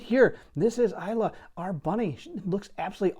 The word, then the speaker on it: Eila: It's E-I-L-A. I pronounce it Eila just because it seems to be the American pronunciation, and after all, that's where I'm from.